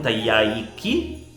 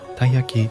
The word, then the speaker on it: Taiyaki: di pesce più precisamente un Taiki che non so se pronuncio correttamente credo che la pronuncia corretta sia taaki Vabbè praticamente una specie di